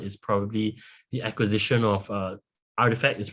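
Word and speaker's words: RTFKT: The most important one is probably the acquisition of Artifact. Is pronounced Artifact Studios by Nike.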